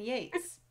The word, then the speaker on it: Yeats: it's from that that yeats poem um is it wait isn't it yates is it keats and yates or yeats and kates it's keats and yates eating cats and meats